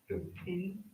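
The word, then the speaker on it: בן: We have the bait and the nun. Ben. All right?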